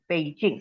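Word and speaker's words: Beijing: spelling उसकी ऐसी है जबकि चाइनीज में वो बी को प कहते हैं तो बी ई आई जे आई एन पेजिंग actually पहले हम लोग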